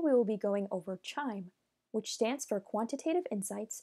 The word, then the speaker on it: QIIME: the other one exploring the terminal interface of CHIME.